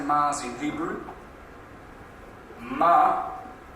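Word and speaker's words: מאדים: Ma'adim. Ma'adim. It's almost like madam, isn't it?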